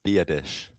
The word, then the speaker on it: Biadasz: So, I've got the I've got the pronunciation down. It's Biadasz.